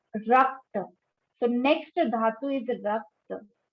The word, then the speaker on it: rakta: So next dhatu is rakta. Pronunciation is rakta, which means blood, blood.